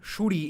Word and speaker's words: Sunri: my God okay so this sunri Jo this is this it's pronounced as shuri in Bengali okay because they are